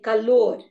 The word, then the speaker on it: calor: So you say amor. Amor. You say calor. Calor is heat. Heat. Okay. So amor and calor. They both end in R and the stress is on the last syllable.